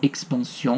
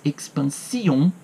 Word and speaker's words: expansion: Implica essa vastidão, essa ampliação que aparece na última estrofe nas palavras expansion, que aqui não é lido como expansion, mas expansion, uma diérese é contada mais uma sílaba, que foi traduzido como efusão, e le transport, que é traduzido como êxtasis.